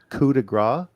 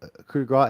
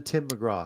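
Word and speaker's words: coup de grâce: a coup de grace, it sounded like he was saying Finn's going to give him the Tim McGraw. Because that's exactly the way he pronounced it. He was still trying to figure the French part out, I guess.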